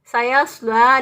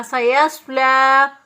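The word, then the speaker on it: سَيَصْلَىٰ: इसी तरह सायस्ला, लाम खड़ी ज़बर ला, यहाँ पर भी या साइलेंट होगी, और ये जो खड़ी ज़बर है इसको एक अलिफ के बराबर लंबा करते हुए पढ़ेंगे। सायस्ला नारन ज़ाता लहब, नून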